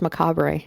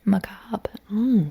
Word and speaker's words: macabre: I always thought it was Macabre. No, it's spelled Macabre, but it's pronounced Macob.